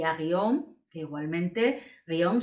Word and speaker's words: guion: Le quitó la tilde a truán y a guión, que igualmente guión son cinco letras, pero una sola sílaba porque hay un diptongo.